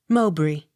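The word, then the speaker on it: Mowbray: m e r y montgomery accent on second syllable m o w b r a y mowbry n i g e l nigel o u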